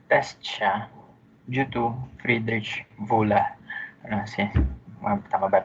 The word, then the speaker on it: Wöhler: And yun, it was put into trial na test siya due to Friedrich Wöhler. Kasi, tama ba pag-pronounce ko? W kasi is V. O is U.